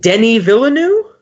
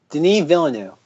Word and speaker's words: Denis Villeneuve: me and the oh god I hope I'm pronouncing this right Denny Villa new Denis Villeneuve Denis Denis Villeneuve okay I'll have to like